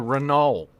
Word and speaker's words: Renault: It was a Renault. Was it Renault? Renault, I guess. Or do you pronounce the T at the end?